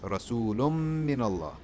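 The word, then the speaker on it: رسولٌ من الله: Rasulullah min Allah and this is pronounced rasoolum min allah okay - Thomas gives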